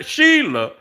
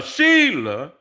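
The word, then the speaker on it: Shelah: So she realized that uh she sha Sheila, I keep saying that, but it sound I mean, that's how it's spelled. s h e l a h.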